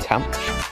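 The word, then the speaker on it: tanh: I pronounce them as shine, cosh, and I pronounce tan h as than. You might also hear them called cinch, cotch, and tanch, with a CH in there, no reason why.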